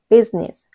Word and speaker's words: business: 이 두 번째 단어 같은 경우도 business 실질적으로 아이는 소리가 나지 않는 묵음이에요. 그래서 business 이음절 단어가 되는 겁니다.